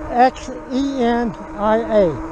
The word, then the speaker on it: Xenia: At Xenia, X-E-N-I-A, Xenia. I know it sounds like a Z, but it's spelled X-E-N-I-A.